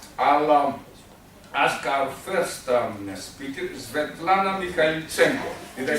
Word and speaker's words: Svetlana Mikhaylichenko: I'll ask our first speaker, Svetlana Mikhaylichenko.